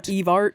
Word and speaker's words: Evart: Everett, Michigan. You're kidding. E-Town. E-Town. Evart.